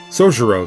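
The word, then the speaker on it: 宗十郎: Sojiro, though. Okay, I guess the Y's are silent.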